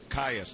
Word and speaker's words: Caius: Starting back in 8th, Max Caius, right? Caius, that's right. We were mispronouncing that, but we got that straightened out.